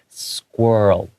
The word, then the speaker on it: squirrel: Yeah, and then the L, the tongue comes out at the very end just briefly. Squirrel, like that, okay?